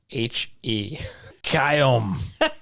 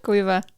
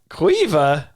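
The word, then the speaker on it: Caoimhe: Island yeah all right next one is c-a-o-i-m-h-e kyom that's not even close okay here we go Cueva Cueva what Quiva Quiva next one is g-r-a-i-n-n-e Granny or grainya grania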